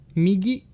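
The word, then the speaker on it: 右: Pronouncing right is migi.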